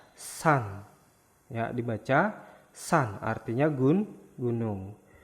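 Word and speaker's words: 산: Terus yang keempat yaitu ada siet, s, a, sa, ada konsonan akhir nien, n. Berarti dibaca san.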